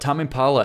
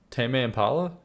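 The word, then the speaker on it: Tame Impala: Tame. Impala. Is that really it? Tame is in the verb to tame. Tame. Impala. Tame. Impala. Tame. Like to tame.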